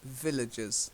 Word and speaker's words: villages: then shove Thank You villages yeah villages so a little bit of stress on that first syllable Ville and then adjust villages okay okay any questions